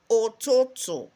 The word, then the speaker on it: ụtụtụ: AM is ụtụtụ.